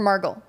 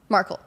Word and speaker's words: Markle: Markle or Margle? Markle.